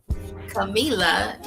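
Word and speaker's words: Kamila: me at sunshine cam k a m i l a that is how you spell my name Camila is how you say it and I thank you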